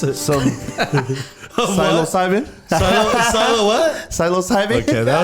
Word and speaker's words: psilocybin: Pronounce it. Some psilocybin.